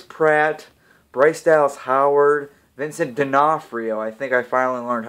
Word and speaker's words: D'Onofrio: And this movie is starring Chris Pratt, Bryce Dallas Howard, Vincent D'Onofrio. I think I finally learned how to pronounce his last name.